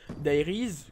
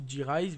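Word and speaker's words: Die Rise: Donc, premièrement, la map zombie qui est bien sûr Dairies. Enfin, vous prononcez aussi D-Rise, vous prononcez comme vous voulez. Moi, je préfère Dairies.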